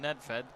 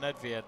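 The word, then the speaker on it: Nedvěd: pavel nedvied i i prefer to call nedvied some of them come and call them ned fed which to be honest you can't call them that i think i'm sure that's how you can pronounce it but i remember years ago when ned fed was a footballer so i've just called him nedved when i just said i call him nedviad so i can't even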